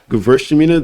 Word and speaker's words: Gewürztraminer: Gewürztraminer. The W is always pronounced as a V.